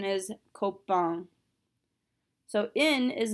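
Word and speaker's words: copain: this particular word for a friend the correct pronunciation is coke bond so in is not a careful letter however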